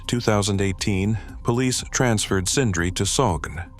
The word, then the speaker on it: Sogn: On February 23, 2018, police transferred Sindri to Sogn, pronounced Sog-An.